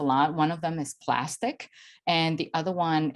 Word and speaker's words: Plastiq: One of them is Plastic, and the other one it's Melio Payments. So Melio Payments, and Plastic is spelled as Plastiq.